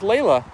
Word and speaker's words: Leyla: Well, Kayla, you're not your name rhymes perfectly with Ila. Kayla and Ila, best friends forever. Although her name is spelled L E Y L A, but it still sounds the same.